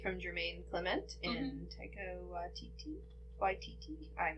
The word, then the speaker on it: Waititi: Oh yeah, made from Jermaine Clement and Taika Waititi. I'm not sure how to pronounce Yeah, that.